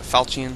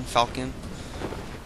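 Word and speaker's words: falchion: in the level falcon I'm not sure if the H is silent on that falchian falcon but they complete my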